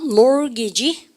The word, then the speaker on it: mortgage: 근데 T 발음 자체가 뭐예요? 여러분들 사운드리스 묵음입니다.